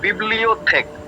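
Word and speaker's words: bibliothèque: इसका प्रोनाउंसिएशन हम लोग प्रोनाउंसिएशन करेंगे बिब्लियोथेक।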